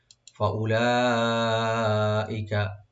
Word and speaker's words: فأولئك: ফাউলাইকা, ফা ওপেন রাখবেন। উলা হামজার পর যে ওয়া এখানে ওয়াটা সাইলেন্ট থাকবে, উচ্চারণ হবে। ফাউলাইকা, লা এখানে মধ্যে মুত্তাসিল, সাকিন টানবেন।